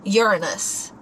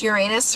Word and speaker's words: Uranus: these people's podcasts and apparently you are supposed to pronounce it um Uranus. Yeah, I've heard that. I didn't know that until then. I literally thought it was just Uranus for as long as I was better.